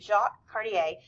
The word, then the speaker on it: Jacques Cartier: Jacques Cartier is French, and yes, that is how you say his name, Jacques Cartier. It's not Jacques or Jacques or Cartier or anything like that.